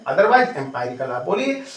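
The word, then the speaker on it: empirical: एंपेरिकल। ठीक? तो एेरिकल मीन्स क्या होता है? अच्छा स्पेलिंग में एररिकल।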